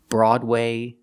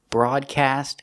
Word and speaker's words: broad: remember Road coat goat but broad is special it does not make the long o sound it has a different pronunciation broad Broadway broadcast and broaden are all pronounced with the a sound like on and off a today we're going to take